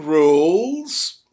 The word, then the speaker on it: rules: Lembrem-se, se fosse apenas regra, não pronunciaria o E no final, né? E como a palavra tem um S, foi para o plural, o E continua não pronunciando. Rules. Uma silent letter aí, né, para você encontrar nessa palavra logo aí no início do texto.